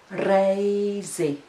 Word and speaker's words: reizi: There is the Latvian r sound in it, but there is also a diphthong a, which I don't think I have taught you before. A. A. And the syllable is rei.